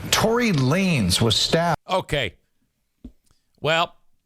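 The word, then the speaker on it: Lanez: and Rehabilitation says Tory Lanes was stabbed. Okay. Well, I thought it was Lanz cuz it's spelled, you know, Lanz. L A N E Z is lanes, I guess. My bad.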